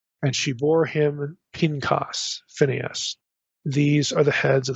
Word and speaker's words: Phineas: should mention Phineas okay that's the way most of us would pronounce this Phineas or Pinos in Hebrew this name is also